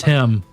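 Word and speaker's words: hymn: It's It's still pronounced him.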